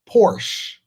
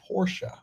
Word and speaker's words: Porsche: A lot of people like to say Porsche. It's actually Porsche. You know, like that little ghetto hood rat that we be dealing with on a regular basis. Hey, Porsche. What's up, Porsche? It's not Porsche. It's Porsche. That's how you pronounce it.